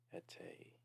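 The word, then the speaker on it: eteği: It's ete, and there's like that curved, almost like a U for the accent over the G, and then an I, which pretty much makes the G silent in most Turkish words when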